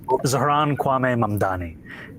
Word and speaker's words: Zohran Kwame Mamdani: Zohran Kwame Mamdani.